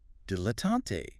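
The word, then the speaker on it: dilettante: Dilatante. Stress mainly on the first syllable, slight stress on the last, three syllables.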